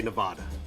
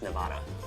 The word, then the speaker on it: Nevada: People say Nevada. Okay, the most popular word that's probably mispronounced is Nevada. It's a Spanish word, probably, which is supposedly supposed to be pronounced Nevada.